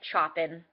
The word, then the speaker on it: Chopin: Chopin looks like Chopin, is actually pronounced Chopin.